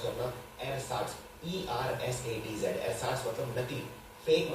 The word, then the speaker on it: ersatz: ये थोड़ा सा डिफिकल्ट शब्द है प्रोनाउंस करना, एरसाट्स, ERSATZ।